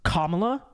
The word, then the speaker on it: Kamala: comment okay that is you pronounce Kamala Harris's name wrong don't you know it's Kamala they do the same thing